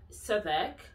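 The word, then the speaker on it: Southwark: don't say stop work so that's how you pronounce it guys savak norwich and beric yes so those ones okay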